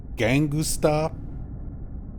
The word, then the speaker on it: Gangusta: Gangusta, which would be the Japanese phonetic pronunciation of gangster.